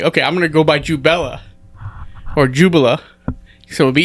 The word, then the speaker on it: Jubela: Okay, so you said Jubela. Right. That is the correct pronunciation.